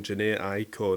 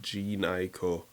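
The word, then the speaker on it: Jhené Aiko: was like oh god i've been saying the name wrong janae aiko not g niko and i have said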